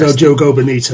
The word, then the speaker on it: O Jogo Bonito: It's not like in Spain it would be Jogo, but in Portuguese you pronounce the J as in like Jose Mourinho isn't Jose Mourinho, so it is O Jogo Bonito.